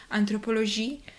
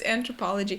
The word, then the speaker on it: Anthropologie: Số 18 - Nhân chủng học Bây giờ, đây là tiếng Pháp Tôi đã nghe mọi người nói Anthropologie. Nhưng đó là Anthropologie. Đó là một công ty Mỹ. Vì vậy, nó là Anthropologie.